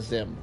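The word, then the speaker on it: Xim: It's Zim. Zim is spelled with an X. It's X-I-M, not Z-I-M, by the way.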